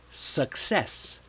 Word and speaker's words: success: Take the word that Javier struggled with, success. The first C is hard like C. The second is soft like suckess.